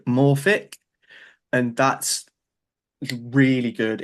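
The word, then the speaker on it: Morphic: That is literally just um m uh o r p h i c Morfic. Like that. That's how it's spelled.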